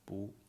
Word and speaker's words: 不: And the response can be 不客气不客气 Earlier I talked about the pronunciation of 不 Original pronunciation is 不 but before the fourth tone, the 不 plus first tone, second tone, third tone would be original 不 sound. But when 不 together with a fourth tone, then it's 不.